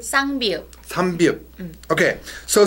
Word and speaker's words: 쌍비읍: 삼비읍? 쌍비읍.